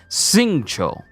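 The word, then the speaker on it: Xingqiu: So the way his name is written, you would think it would be like Jing or Kui or Q or something, but the way his name is said and pronounced is Singcho.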